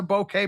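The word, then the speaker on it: bokeh: Brian taught me how to say it. It's a bouquet background.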